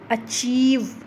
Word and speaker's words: अचीव: अब यहाँ पर देखो अचीव, चीव को ज़्यादा लंबा बोल रहे हैं, चीव पर ज़्यादा स्ट्रेस हो रहा है, ए पर ज़्यादा स्ट्रेस नहीं हो रहा है, तो यहाँ पर